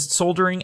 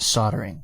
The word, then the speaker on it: soldering: A brazing and soldering alloys, B photography, C electronics, D silverware, E jewelry, or F bullion or other like physical currencies and investments.